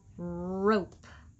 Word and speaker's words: rope: note next up the e makes the o say its name r row rope rope co code he makes the